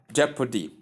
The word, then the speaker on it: jeopardy: Number five we have jeopardy jeopardy. Simply say jeopardy. The stress is given or the force is given at the first syllable.